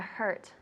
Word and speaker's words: hurt: How do you say to hurt in Spanish? Hacer daño. Good, yeah, to hurt. Don't hurt me. Don't hurt me. Good. Very good. Repeat hurt. Hurt. Good. It's like a huh sound.